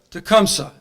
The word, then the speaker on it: Tecumseh: Tecumseh.